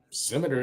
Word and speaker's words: scimitar: Scimitar it is.